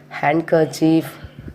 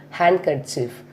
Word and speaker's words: handkerchief: First one is when it come before N or after N, the letter D is silent. For example, Wednesday, handsome, handkerchief, sandwich, like this.